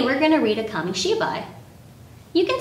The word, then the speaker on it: kamishibai: japanese gardens today we're going to read a kami-shibai you can say it with me she bye